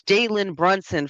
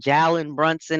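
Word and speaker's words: Jalen Brunson: And it's Jaylen Brunson for you people that don't know how to say his goddamn name. Say saying Jallon Brunson and all this other is Jaylen Brunson. Pretend you see a Y there.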